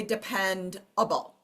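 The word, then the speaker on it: dependable: So we don't say the word depend able. We say depend able. Okay, so schwa right there.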